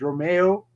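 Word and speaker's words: Romeu: like james ward prowse yeah i think it's pronounced romeo yeah romero yeah yeah adams is shining for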